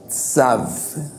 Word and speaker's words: Tsav: que hemos estado estudiando es sav sav sav t con v muda al final tav es un poco caché un poco difícil pronunciar palabras con la letra tadi porque es una letra que no hay una una música vamos a decir así un sonido que no hay en español ni en portugués ni en inglés es